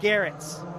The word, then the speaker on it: Garrett: Garrett's rhymes with carrots.